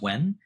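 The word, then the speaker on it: 溫: The other character, yun, is the character for qi, and inside of it has a character called, pronounced wen, which means to warm.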